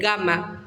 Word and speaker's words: gamma: Gamma siempre tiene sonido de G suave. ¿Qué significa esto? Que se va a pronunciar ga, ge, gi, go, gu, igual que en latín, independientemente de la letra que acompañe.